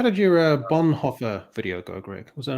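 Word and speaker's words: Bonhoeffer: How did your uh Bonhoffer video go, Greg? Was that am I pronouncing that correctly?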